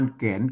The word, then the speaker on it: แก่น: ไ ตัว กะ อ่าน แกน แก่น นะ ครับ แกน อ่าน ว่า แก่น นะ ครับ แกน แกน ไ อัน